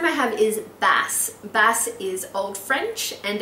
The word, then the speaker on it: Bass: I love the name Bass. I think it's really cool, but it could be mispronounced as bass, as in bass guitar. But who would mind someone mispronouncing their name as a cool instrument?